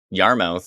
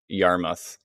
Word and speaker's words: Yarmouth: timing good timing oh yarmouth ah yes sue says yarmouth not mouth that's true yarmouth is it spelt mouth i have a feeling it actually is spelt mouth but i guess it's pronounced muff how come nothing is